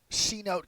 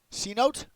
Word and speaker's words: Cenote: Cote. Okay, listen. RPR, same as us. Cote. I think that's the only way to pronounce it.